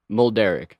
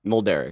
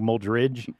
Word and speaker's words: Mulderrig: How do you say your last name? Mulderrig. Mulderrig? Mulderrig. Okay, because in my head I say like Mulderrig.